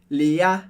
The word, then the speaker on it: Léa: é que a sílaba forte do francês, como regra geral, é a última. Por isso a gente não fala Léa, mas sempre Léa. Léa é o final da palavra, que é a parte mais forte.